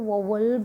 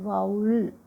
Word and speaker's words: vowel: तो ये है कि बच्चे अपना इसको वोवल पढ़ते हैं, तो ये वोवल नहीं होता है। इसकी अगर आप फोनेटिक स्ट्रक्चर देखोगे तो फोनेटिक स्ट्रक्चर होती है वी ओ यू and this E, this pronounce E एल, वाउल। ठीक है, इट इज़ not pronounce वाउल।